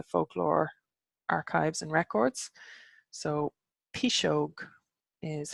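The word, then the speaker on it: piseog: terms in the folklore archives and records so P shoke is how you pronounce P is Gog P shoke re is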